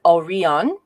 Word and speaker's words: Orion: is um okay so everyone pronounces orion as aureon uh uh everywhere and in many books all over the internet folks say this is a mispronunciation i want you all to know at home that it is not it is a possible